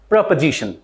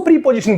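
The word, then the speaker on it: preposition: second word इ प्रपोजिशन प्रपोजिशन basically इसको प्रीपोजिशन बोलते हैं और पहले को बोलते पोजीशन जो कि बिल्कुल इनकरेक्ट है सो फर्स्ट वर्ड को आप प्रोनाउंस करोगे पोजीशन और जो सेकंड वर्ड रहेगा उसको आप प्रोनाउंस करोगे प्रपोजिशन प्रपोजिशन now come to द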